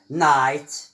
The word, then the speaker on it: night: نأخذ مثال عندما لا ننطق بهذا GH، بهذين الحرفين GH، عندما يكونان صامتين silent. example night الليل، high مرتفع أو عالي، neighbor الجار.